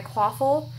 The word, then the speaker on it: Quaffle: I'm going to fill my quaffle. I did have to ask how that was pronounced, by the way.